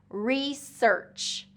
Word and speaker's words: research: So research, research. So the S to the ER and then the ch at the end was really tricky for a lot of my students.